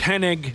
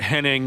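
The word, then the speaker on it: Hennig: camp Mano yes sorry I know it's henig not Henning I I I pronounced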